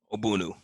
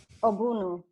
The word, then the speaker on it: Ogbunu: how do you say your last name aunu aunu okay perfect yay I I appreciate the the